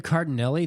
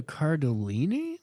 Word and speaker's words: Cardellini: Okay, so I was saying Linda Cardinelli. That's what I always thought it was. The internet is saying Linda Cardellini. It sounds like you were pronouncing it wrong.